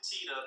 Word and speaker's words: Teta: actually, we pronounce it Teta because Teta, we know in Spanish, Oh. it's not the best I didn't think about that there, yes.